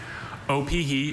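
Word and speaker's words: opihi: Oie is the only pronunciation I have.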